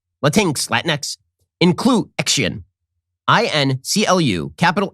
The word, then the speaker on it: Latinx: I pronounce it that way because that is how it's spelled. It is spelled Latinx, Latinx, Inclusion, INCLU, capital